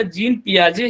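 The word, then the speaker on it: Jean Piaget: बट सही pronunciation इनके नाम का जीन पियाजे ही है।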